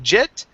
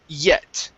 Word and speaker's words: yet: word yet first so instead of saying jet give me a good y sound here e at yet there you go very